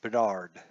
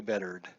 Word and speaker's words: Bedard: in pitching today is Erik Bedard Bedard Erik Bedard probably bettered Erik Bedard so on